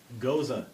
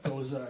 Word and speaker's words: Gose: Goza. That is the correct pronunciation. I looked it up. And Two Roads Honey Spot Road. So, not to be confused with Gozer. Goza, yeah, Goza, or Gose.